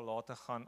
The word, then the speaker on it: Lategan: good that's ok the the G becomes an H I'm aware to it